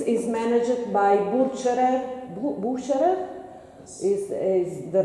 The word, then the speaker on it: Bucherer: sorry for my verbs couples so these buildings is managed by butcher and boo boo sure is the right pronunciation and you have how many brands inside